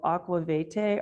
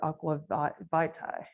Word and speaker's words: aqua vitae: victual is one of aquavite or Aqua Vitae depending on how you want to pronounce it this translates to